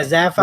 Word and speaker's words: Zaphiel: Yeah, Zaphiel, What not? like Raphael.